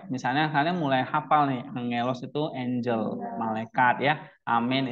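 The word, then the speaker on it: ἄγγελος: Ang, iya, angelos, ya. Jadi suara eng dia, nggak ada suara g lagi, tapi eng. Jangan baca ang akelos ya, tapi angelos, angelos, ya kan?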